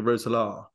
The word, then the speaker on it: Roeselare: course, that loan move over to Belgium, KSV Roeselare. Now, what was the thought process behind? Did I pronounce that okay?